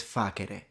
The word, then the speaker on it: facere: He says facere, and it's so fascinating because the C is once again pronounced like a K, which is a connection with how classical Latin was spoken.